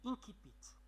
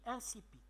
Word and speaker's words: incipit: Il se lit de deux façons. Si on le lit selon le latin, on le lit incipit. Et si on le lit selon la langue française, on le lit incipit. J'ai fait une recherche et j'ai trouvé que les deux prononciations sont justes. Nous, au Maroc, nous avons l'habitude de dire incipit.